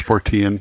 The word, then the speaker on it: Fortean: Is it Fortean? I think so. Fortean. That's how I would say it. It's Fortean. It's based on Charles Fort's work.